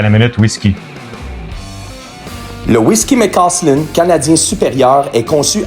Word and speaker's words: McAuslan: Amateur de bière Saint-Ambroise même maison McAuslan. McAuslan. McAuslan. J'aime ça le dire ça parce que toi tu me reprends puis ça l'apprend aussi aux gens de bien dire les prononciations comme on a déjà parlé.